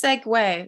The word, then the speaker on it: segue: No, it's segue. It's how everyone pronounced it.